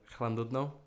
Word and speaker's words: Llandudno: I always pronounce it wrong. Llandudno. Is that right? Llandudno.